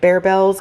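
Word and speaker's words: Barebells: We got a bunch of the Bear Bells. That's how you say it, right? Bear, not bar. Bear Bells.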